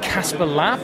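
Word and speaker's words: Kasper Lapp: So we're here with Casper Lapp. Is that correct pronunciation?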